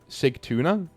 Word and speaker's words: Sigtuna: Sigtuna, pronounced how it's spelled, one of the oldest towns and cities in Sweden.